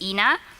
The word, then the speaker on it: Ena: also known as Ena so I know people get confused a lot about how to pronounce that but it's Ena um from Alison and